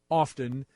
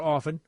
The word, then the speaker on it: often: laugh and you do often or often I don't know why I pronounced the T that seemed odd to